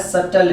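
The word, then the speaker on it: subtle: फिर मैंने यहां पर लिखा एसयू बीटीएल कि यह होता है सब जेल नहीं है या कह सटल भी क्या है साइलेंट है एक वर्ड और मैंने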